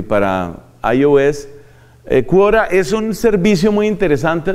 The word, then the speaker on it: Quora: un servicio en internet que se llama cura así como se oye se escribe cura ahora el puntocom que también tiene su aplicativo para android y para ios quora es un servicio muy